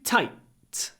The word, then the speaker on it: tight: Y and the jeans these jeans these jeans lots of Y before a voice n too tight clipped before an unvoiced T jeans are too tight